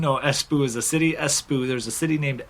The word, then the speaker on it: Espoo: mean um it means indestructible cell phone financial pronunciation it's um finnish see here yeah it's uh it's headquartered in espoo finland so esboo's a place if you didn't know espoo is a city espu there's a city named espoo it employs uh